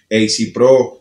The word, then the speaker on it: Ezzey Pro: AC Pro, se escribe EZZEYPRO, AC Pro, a pulso vivo.